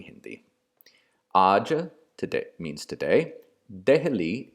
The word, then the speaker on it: Delhi: Raja today means today Delhi is simply an alternate pronunciation of the name for the city Dilli and you should note